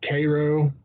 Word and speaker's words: Cairo: Cairo which is filled like Cairo but you pronounce Cairo cuz dirt but I mean it looks like